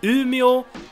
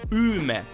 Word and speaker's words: Umeå: I think it's a retroflex sound instead of that sound, and you don't have that O sound at the end. So Umeå and not Umeå, and Luleå, not Luleå, and Skellefteå and not Skellefteå.